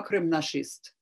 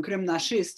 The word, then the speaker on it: кримнашист: And then the term Krim Nashist, he's somebody who believes that Crimea is ours, which rhymes with fascist.